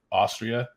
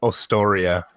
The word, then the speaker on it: Ostoria: And so the lore behind this was the giant world of Austria, Ostoria. So pronunciation. Ostoria.